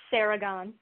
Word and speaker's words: Seregon: It's pronounced Seregon.